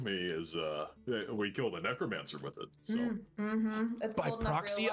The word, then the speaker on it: necromancer: He's not saying necromancer, he's saying mechromancer, because he's not really sure that necromancer's how you say it. He thinks it's mechromancer.